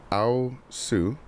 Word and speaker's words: aosu: I actually just learned how to say this. This is aosu, and it is a solar-powered wireless security camera and spotlight.